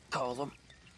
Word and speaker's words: Colm: Cullum.